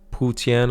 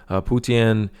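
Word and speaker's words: Putian: are made in guangdong also in putin i believe is how you pronounce it putien typically makes sneakers they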